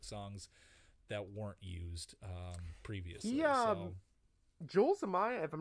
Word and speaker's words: Joel Zumaya: But my number 2 is Voodoo Child by Jimi Hendrix, and I think it was Joel Zumaya. Is that if I'm pronouncing that right?